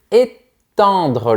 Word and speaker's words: étendre: Tu commences par un sourire et ensuite tu imagines un rectangle vertical dans ta bouche. Étendre. Encore une fois, généralement, quand on a les lettres EN, on prononce en.